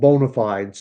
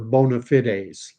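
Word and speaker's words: bona fides: someone who has the so-called bonafides or if you prefer bonafit I've heard it pronounced both ways uh just catching up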